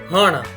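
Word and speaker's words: હણ: Like how we have pronounced kan and gan, same way hana.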